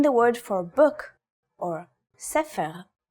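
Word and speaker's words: ספר: In the word for book or sepher, it's pronounced with a f sound.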